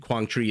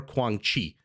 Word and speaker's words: Quảng Trị: I believe this guy this guy's name can be pronounced Quang tree or Quang Chi so kind of like